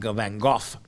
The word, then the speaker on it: Van Gogh: Van Gogh is, of course, how they would have pronounced his name in his native Netherlands, Van Gogh.